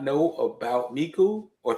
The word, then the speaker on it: Meaku: A lot of people pronounce my name Meaku. It's Meaku.